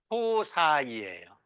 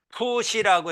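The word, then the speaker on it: ψ: 이거는 푸사이예요. 푸시라고 읽어도 돼요.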